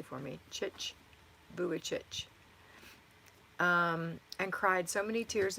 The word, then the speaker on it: Vujicic: Thank you for putting that in phonetically for me. Vujicic.